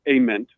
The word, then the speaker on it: Ament: Nate says it is Ament with the hard A, if that's even correct, but Ament.